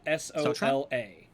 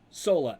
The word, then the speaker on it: Sola: S O L A or Zelron. Um, what' you say her name was? Sola.